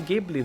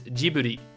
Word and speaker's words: Ghibli: In Japanese, it is Ghibli. So with a G sound. So it would be in English then Ghibli.